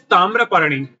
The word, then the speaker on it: Tamraparani: The first one is Tamraparani. Tamrai means, it's not tha, it's ta.